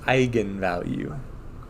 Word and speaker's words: eigenvalue: okay so just a refresher that's how Matrix Vector multiplication works so um if you see this word it's pronounced eigenvalue um I don't remember